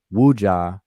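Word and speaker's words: wedja: That middle word Uja is really Wuja. People don't pronounce the W.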